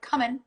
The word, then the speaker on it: cumin: question about the cumin some people pronounce it coming but i think you're supposed to say cumin i've got the cumin